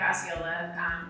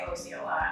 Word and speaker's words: Osceola: But I met Mike Osceola at the Chalet Suzanne.